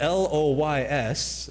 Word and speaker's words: Loys: Now, the L O Y S, I believe is pronounced Loys. According to the French.